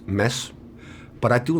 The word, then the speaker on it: Mads: It's a silent D. It's mess.